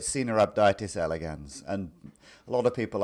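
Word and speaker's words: Caenorhabditis elegans: of the pronunciation um I've heard different pronunciations uh I'm not an expert on Latin but I I call it cab datis elegans and a lot of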